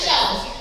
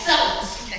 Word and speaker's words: cellist: I'm not pronouncing that word right. It is cellist. It looks like cellist. Okay, cellist.